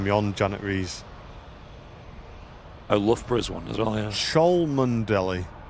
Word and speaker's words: Loughborough: Oh, Loughborough's one as well, yeah. Cholmondeley is pronounced Chumley.